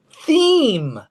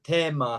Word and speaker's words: theme: God, the Japanese are using the German form. In English, it's theme. Theme. Yeah, yeah. The first time I heard Thema, I was in Japan.